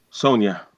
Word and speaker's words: Saunders: How do you pronounce it? You say Sonia? Sonia.